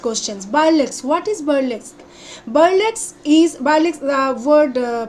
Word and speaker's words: burlesque: of short type questions by lex what is burlesque violets is balik's the word pronounced b-u-r-l-e-s-q-u-e burlesque is a literary dramatic or